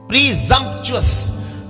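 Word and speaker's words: presumptuous: एस यू एम पी टी ओ यू एस प्रीजम चुस प्रीजम जान पूजक ढीठ बन करना इंटेंशनली डेलिब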